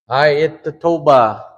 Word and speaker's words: ayatatoba: So break it up into syllables. I, it, ta, to, ba. Okay?